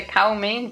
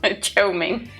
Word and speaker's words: chow mein: I've been here since you were at the cow main booth. Or cow main booth. Chow mein. Chow mein. I think it's pronounced. I only saw cow.